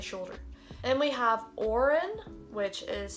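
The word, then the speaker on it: Odhrán: say soldier i say shoulder then we have orin which is spelled in yeah two different way two different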